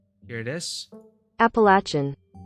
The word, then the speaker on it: Appalachian: wanna know I'm pronouncing it properly ah lakyan pronunciation here it is Appalachian Appalachian Appalachian chin Appalachian Appalachian Okay Google foreign folk